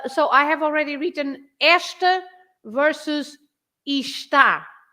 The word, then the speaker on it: esta: So esta, there are two syllables, esta. There are no accents, so the rule is you stress the first part because it's the one before the last, right? If you stress that part, you say esta, esta.